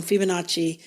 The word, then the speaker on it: Fibonacci: I said it wrong. Fibonacci. I thought it had an R in it.